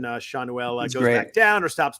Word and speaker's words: Schanuel: I looked it up, and I think that's how you say it. I listened to a couple clips from his minor league announcer and from Matt Vesgersen because I hate to butcher names.